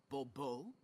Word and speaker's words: Bobo: fine Monsieur de Bobo the emphasis falls on the last syllable Bobo mm-hmm see now I'd